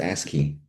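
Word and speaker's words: ASCII: ASI is pronounced ASKI.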